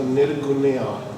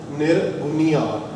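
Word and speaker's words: ਨਿਰਗੁਣੀਆ: हमने दुनिया नीच अजान है नीच अजान है So there are 2 things that happen to this word, unfortunately. It's sometimes this nanna is pronounced as a nana accidentally, near Gunaya, and the Bihari, which is an E sound, is sometimes pronounced as a Sihari, like an A sound, so Nirgunaya. But this is Nirguniya.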